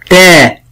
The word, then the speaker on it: ت: والفرق بينه وبين حرف التاء أن حرف التاء مرقق، أما حرف الطاء مفخم. طاء وتاء. انطق معايا. طاء. طاء. تاء.